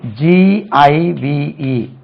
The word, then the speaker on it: give: ஒன்னு ஏற்கனவே நம்ம GIVE பாருங்க. give. this is G. இது G stands for give. G. இது எங்க வந்தாலும் G என்று உச்சரிக்க வேண்டும். then again GEM.